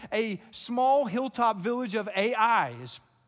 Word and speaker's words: Ai: small hilltop village of a.i spelled a i but pronounced a.i what should have been